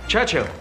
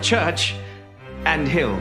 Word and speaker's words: Churchill: Churchill. That's how you say it. All together like that. I'd heard church and hill, but couldn't find either.